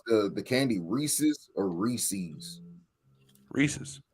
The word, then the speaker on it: Reese's: Reese's. It's Reese's. That's what I say. But people do say, because it rhymes with pieces.